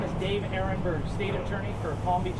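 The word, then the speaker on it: Aronberg: My name is Dave Ehrenberg, State Attorney for Palm Beach County, Florida. Last name is spelled A-R-O-N-B-E-R-G.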